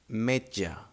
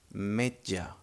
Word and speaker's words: metge: The sound doesn't change, but it may be a bit difficult to pronounce at the beginning.